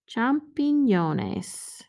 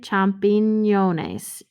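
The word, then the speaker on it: champiñones: mushrooms okay they're called los champin yones champignones do you hear the tilde champignones champignones i remember it's the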